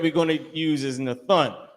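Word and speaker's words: נתן: Nathun is how you pronounce it.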